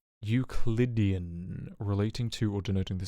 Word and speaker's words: Euclidean: say that how do you say that word es ecludion hold on i need to know euclidean euclidean relating to or denoting the system of geometry